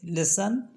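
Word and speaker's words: listen: और वर्ड है जैसे जिसमें टी साइलेंट होता है जैसे लिसन कैसल और विसल इसमें टी को हम नहीं बोल रहे हैं अब देख लेते हैं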